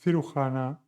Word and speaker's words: cirujana: And you also have the sound G como Juan with the J. J followed by A, O, and U, like cirujana, Jose, and juez.